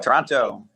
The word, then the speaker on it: Toronto: Yep. Toronto. Just like the that. city. Like the city.